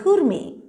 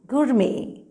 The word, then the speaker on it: gourmet: and drinks is a kurmi g-o-u-r-m-e-t well you can't pronounce this as gourmet or gourmet you pronounce this as kurmi gurmee so one who is